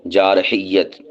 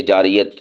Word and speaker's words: جارحیت: جارحیت۔ بعض اسے جاریت بول رہے ہوتے ہیں، بالخصوص خبروں میں، نیوز میں، تو اس کا صحیح تلفظ ہے جارحیت، اور یا کے اوپر تشدید پڑھنی ہے، یا کو 2 بار پڑھنا ہے۔ جارح، جارحانہ اور جارحیت،